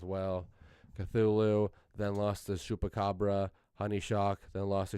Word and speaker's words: Chupacabra: For our champions, Zupacabra. I should say Chupacabra. Apparently it's pronounced Chupacabra, not Zupacabra.